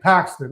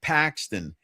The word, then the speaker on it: Paxton: And Paxton.